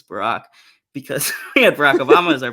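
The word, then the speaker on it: Barak: like it's funny because the pronunciation originally the hebrew is closer to barack and so it is funny that we like sort of it became barrack at some point and now people think it's barack because barack obama is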